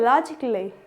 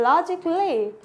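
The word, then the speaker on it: logically: silent word होते हैं अब आता है लॉजिकली क्या हो रहा है लॉजिकली लॉजिकली ए क्या है यहां पे भी साइलेंट आ रहा है लॉजिकली रिपीट आफ्टर मी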